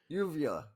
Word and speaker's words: uvula: time you've said it well I think the last time I said it is the correct way uvula there you go movies